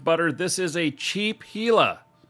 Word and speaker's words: Gila: pronounce it differently but in English it is Gila the G is silent yeah I ain't doing